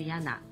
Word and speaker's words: Jana: ーのガスなしの水ヤナですね。